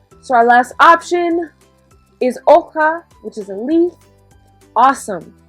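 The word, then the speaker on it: hoja: there d we've got oha remember that h is silent so repeat so looking at our images we've already chosen three so our last option is oka which is a leaf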